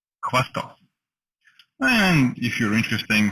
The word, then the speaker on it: Khvostov: So you say Khvostov. And again, in the end, it's also kind of something in between V and F. Khvostov. Khvostov. Khvostov.